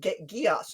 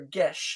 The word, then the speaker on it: geas: under the effect of geass or gesh in whatever pronunciation you prefer so now that he